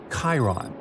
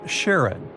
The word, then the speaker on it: Charon: and the most mysterious one, Chiron, also pronounced Charon. So you can pronounce it however you like. I'm going to go with Charon.